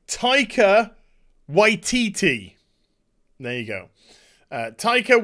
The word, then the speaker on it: Taika Waititi: the fourth leave off Disney I got to pronounce this right Taika Waititi there you go Tyko y TT to direct